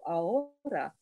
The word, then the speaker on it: ahora: Ahora has an H in it. In even though we don't say it like in English, it's not ahora.